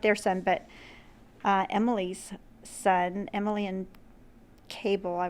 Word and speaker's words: Emil: I mean, this is just like kind of like the middle of the story, because their son, Emil, not their son, but Emily's son, Emily and Cable.